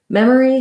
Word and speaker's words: memory: So first of all, the word memory has first syllable stress. That means my mem syllable is long and has the clear vowel eh. It's like the vowel in red and tent.